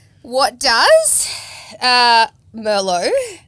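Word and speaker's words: Merlot: Merlo.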